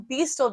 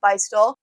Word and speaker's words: Beistle: my last YouTube video, I learned that it's actually pronounced Beistle, and I wanted to be sure that was true, so I called the Beistle phone number because Beistle is still open today. And sure enough, it said, thank you for calling Beistle. And so now I know that's how you pronounce it.